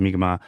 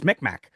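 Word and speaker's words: Mi'kmaq: I know that there is uh for the migma u there's a little bit of a well it's not pronounced like that that goes on um there's there's the the the very angophone oh it's mcmack um and that's not right at all.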